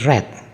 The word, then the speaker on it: read: Kemudian kata kerja read kita ubah menjadi read. Tulisannya sama tapi bacanya berbeda.